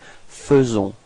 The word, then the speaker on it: faisons: So here it's quite tricky because actually we write it A-I, faisons, but then we pronounce it faisons. Okay, and then final S is not pronounced.